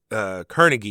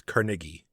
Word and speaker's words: Carnegie: The proper enunciation is Carnegie, but everyone else uses Carnegie, so that's why I just went with the common pronunciation.